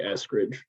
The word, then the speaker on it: Eskridge: How do you pronounce the wine company's name? Is it Eskridge? Yeah, I say Eskridge.